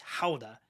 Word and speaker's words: Gouda: It's not pronounced Gouda in the Netherlands. It's Gouda, and so I didn't bring home any Yes.